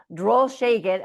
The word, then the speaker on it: Drolshagen: Droll Shagen, and I keep wanting to say it the German way because I pronounce it so many times.